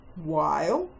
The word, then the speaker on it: while: While, W, silent H, I as in kite, L.